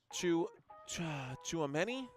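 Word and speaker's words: Tchouaméni: Chouameni? Chouameni, yeah. Chouameni. I think that's how it's said. This guy right here, that's a tough one to say. Chouameni. T-C-H-O-U, like chew, like mon choo-choo.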